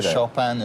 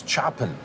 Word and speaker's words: Chopin: right here in Chopin how do you say sharpen is a face so I always thought it was chopping no no and then service area